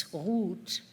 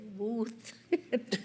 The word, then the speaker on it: Ruth: embarrassed before I answered, namely Ruth, which is one syllable, and it has two sounds in it that are completely different. In German, it's "hoot," a guttural sound, and here, I had to say "wooth."